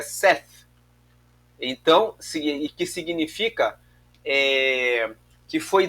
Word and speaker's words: Seth: Mas o nome dele, na verdade, no hebraico é Seth.